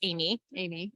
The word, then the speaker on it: Aimee: In France, it's pronounced Amy, right? But I was born in the United States, and so it's Amy, and it's spelled the French way, so AIMEE.